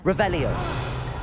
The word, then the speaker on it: Revelio: You're Revelius. saying it wrong. Revelio.